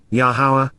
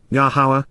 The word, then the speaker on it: Yahowah: even when we are not worthy then W yahwah yahwah the proper pronunciation of yahwah our eloa God has directed